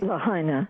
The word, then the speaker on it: Lahaina: the call Dianne in law Hina Lahaina Hawaii Lahaina yeah Shaun used to live in Hawaii she was just pronouncing it correctly for me so what's up